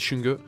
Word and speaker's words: Xunge: le gagnant des World alors s'écrit xinguer mais c'est ça du chewing-gum et au-dessus de moi